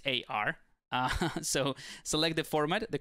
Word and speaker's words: SBSAR: I think I've been pronouncing it incorrectly. It's not sbasr, it's absar.